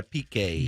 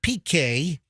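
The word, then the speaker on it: Piqué: that her long time love Gerard is it PK is that how you say his name yeah PK Gerard PK from the Barcelona football club okay as in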